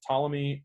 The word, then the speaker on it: Ptolemy: were Ptolemy - Ptolemy this is Ptolemy is how you say it but there's a P in it so it's Ptolemy and SaLuSa s' so